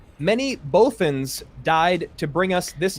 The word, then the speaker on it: Bothans: which character said many bothans died to bring us this infrared correct you it's bothans yes atlas goes up one nothing i like almost said it right but then i got